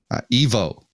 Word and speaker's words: Ivo: No, it's Ivo. Evo. Yeah, or Evo. Yeah. Brian calls him Evo. Yeah, because it's like Neo, spelled but with it's an not. I, but it's pronounced E.